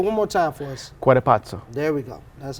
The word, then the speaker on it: Cuatepotzo: Cuatepotzo.